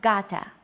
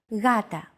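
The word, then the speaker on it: γάτα: One such example is the word gata, meaning cat. This is usually romanized with an initial G letter, but it is not pronounced gata. The first consonant is softer, gata.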